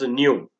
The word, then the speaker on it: nu: It is pronounced as nu, and it is measured